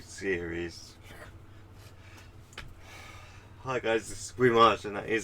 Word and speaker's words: weimaj: Hi guys, this is weimaj, and that is how it's pronounced.